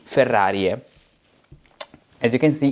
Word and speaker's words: Ferrariae: Ae is read in medieval Latin as e, Ferrariae.